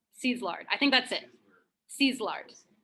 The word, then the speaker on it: Szilard: Szilard.